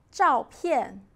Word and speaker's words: 照片: 照片 means photo. Two falling tones together. 照片, 照片.